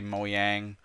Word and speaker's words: Mojang: But talking about Mojang or Mojang, however you want to pronounce it, I say Mojang.